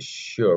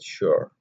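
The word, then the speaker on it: Xior: only contains Studio rooms that's called the sheer building it's x i o r for some people the pronunciation May differ I prefer to call it sure so uh in that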